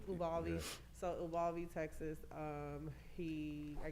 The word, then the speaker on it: Uvalde: I don't know how to pronounce the name of the city in Texas. Uvalde. Uvalde.